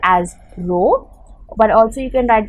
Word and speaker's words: rho: used for density is the symbol which is pronounced as rho but also you can write just write a